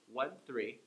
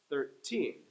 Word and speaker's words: thirteen: With the number 13, 13, the teen gets the stress. 13, 13, right?